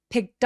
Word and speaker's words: picked: picked up, 들었다라는 뜻이에요. pick up이니까요. 근데 picked. 아까 크크크 소리, 무성음 소리 뒤에 ed는 통째로 뭘로 발음한다? T. 그래서 picked. 트 소리가 모음과 막 이렇게 만나게 되면 picked up.